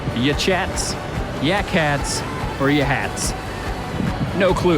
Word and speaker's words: Yachats: So all this is right outside of a town called Yakats, or Yachats, Yachats, Yakats, or Yahats. No clue how to pronounce any of it.